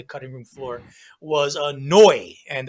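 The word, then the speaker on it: Neu!: room floor was a noi and the way it's a german name the way you spell it is n-e-u exclamation point noi were one of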